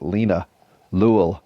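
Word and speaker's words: linalool: I'll spell it again l i n a like Lena L like drool but with a l l o o l Lena L strong anti-anxiety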